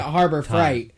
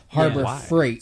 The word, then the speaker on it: Harbor Freight: clothes just as content you were saying Harbor Freight but it sounded like fright no he was he was pronouncing a harbour fight yeah he pronounces it like that on purpose but it is Harbor Freight Harbor Freight nobody gives